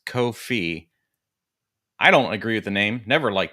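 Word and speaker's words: Ko-fi: about Co Kofi it's it's supposed to rhyme with no fee but because they have a cup of coffee on their logo people think coffee but it's kof fee I don't agree with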